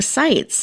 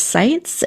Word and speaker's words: Sitze: And I did want to make sure I let everybody know last name is pronounced Sites.